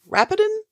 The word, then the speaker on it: Rapidan: He will throw his whole army between us and is it Rapidan? Rapidan. Rapidan. Okay. I want to make sure Yes. I pronounce that correctly.